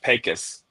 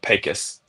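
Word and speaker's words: Pecos: It's called It's pronounced Pacis despite its you know how it appears. They call it Pacis.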